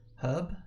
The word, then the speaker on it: herb: you can't trust them herb is it not herb or herb how could you how would you i'm saying it right okay they missed the h okay you don't pronounce it they haven't heard that